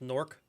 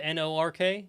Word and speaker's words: Newark: new jersey and it's nork newark yeah north north airport it's pronounced pigeons and the hookers it's like it's spelled n-o-r-k it's basically what it sounds it's one syllable nork nork okay new york